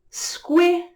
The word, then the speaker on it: squirrel: It is one sound, and whenever you have a Q and a U together, it makes a qu sound. So with the S, it's squa, and with the SQI, it's squih.